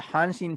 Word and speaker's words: Hanshin: So the Tigers are the Hanshin Tigers, and Hanshin is actually the name of the company that owns the team.